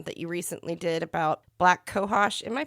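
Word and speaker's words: black cohosh: your post um that you recently did about black kohos am I pronouncing that correctly yeah yeah you are um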